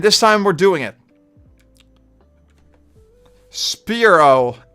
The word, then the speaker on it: Spearow: Spearow. As in a spear weapon and...